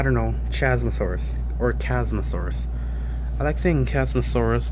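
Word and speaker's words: Chasmosaurus: is a funny term if you see cosmos if they chasm source like in general then you're not saying it right chadzmuth source either way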